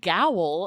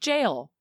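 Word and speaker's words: gaol: how to spell because i was like gowell and i when i looked up the pronunciation it just said jail like do people spell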